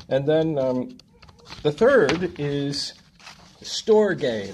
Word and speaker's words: storge: And then the third is storge. That's how you pronounce it. It's spelt like storage without the A.